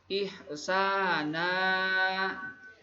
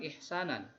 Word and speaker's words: ihsana: tanwin tersebut diwakafkan maka dibacanya jangan ihsanan tapi Ihsan ah ah hukum bacaannya itu adalah Made iwad karena tadi itu tanwin Fatah tetapi diwaqofkan Jadi dibacanya ihsana bukan ihsanan itu kemudian lanjut kepada